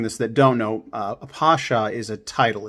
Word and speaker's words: Pasha: 34 weeks from this week is the 100-year anniversary of the assassination of Talat Pasha. I always mispronounce it. I say Pasha, but it's Pasha, right?